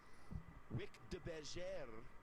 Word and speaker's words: Wick de Bergère: Wick de Bergère. Remember a couple weeks ago, that's actually a French Creole name, Rob, so that's how you pronounce it.